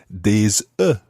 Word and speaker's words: des œufs: But if you're looking for more than one egg, it's des œufs. Des œufs. And it's spelled O-E-U-F-S, but it just sounds like Des œufs.